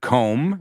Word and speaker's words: comb: We looked at the word comb. It rhymes with home, dome, Rome.